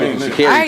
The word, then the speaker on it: Sha'Carri: How you say it? Sha'Carri? It's Sha'Carri. She said it's Sha'Carri.